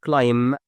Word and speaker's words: climb: sorry you have like some other words like the word tomb for example with a b at the end like the word climb and climbing and so on.